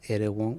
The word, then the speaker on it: Erewhon: Let me start with the new song "Crying at the Erewhon." I think I'm mispronouncing the place, but No, you got it.